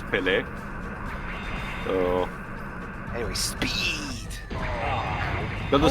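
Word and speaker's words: Pelé: Well, Dwibs, there's no accent on the E, so... Or Peely. No, Dwibs, the correct pronunciation was Pele.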